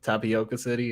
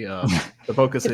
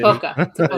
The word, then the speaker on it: Tipoca City: And then just seeing I don't know how to say it, Tapioca City, Tipoca City. Tipoca.